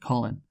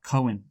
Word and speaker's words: Colin: Colin Powell, I believe his first name is not pronounced like Colin. It's pronounced... Yeah, well, okay, it is spelt like Colin. So yeah, I know, but it's not pronounced... It's like Cohen.